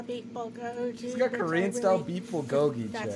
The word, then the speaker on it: bulgogi: there's Korean style beb GOI got Korean style beb GOI that's how you pronounce it which I really like in The